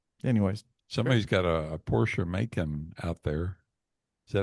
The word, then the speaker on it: Macan: And anyways, Somebody's got a Porsche Macan out there. Is that how you say it? Macan?